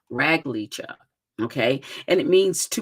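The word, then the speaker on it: רגל: the number is 7272 right and it is pronounced rag Lea rag Lea okay and it means to be able to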